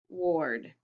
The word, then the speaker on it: ward: and add to it a ward sounds like or okay let's erase it